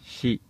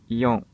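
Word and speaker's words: 四: A pronúncia onyomi do número 4 é shi. Repetindo, a pronúncia onyomi do número 4 é Shi. Ok? Agora a pronúncia kunyomi. Kunyomi, existem quatro pronúncias mais utilizadas, que são ion, ion, yo, yotsu. Repetindo, yotsu.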